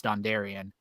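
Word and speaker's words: Dondarrion: name right right out the gate and it's dondarian which is cool because that's another you know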